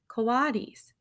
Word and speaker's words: coatis: These are coatis, Mrs. Brisbane said, reading from the letter, pronounced coatis.